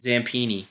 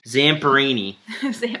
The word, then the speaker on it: Zamperini: true story oh boat Lou how do you pronounce his last name zampini py Zamperini I was close just his life story yeah